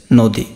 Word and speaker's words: নদী: তো এখানে দেখো নদী, নদী বানানের দীর্ঘিকার আছে, এখানে কি হয়েছে? রস্যিকার হয়েছে, নদী রস্যিকার।